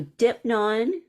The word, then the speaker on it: Deipnon: So Deipnon is spelled Deipnon. Of course, I say it with my East Coast accent. There are other ways to say it. That's fine, however you say it.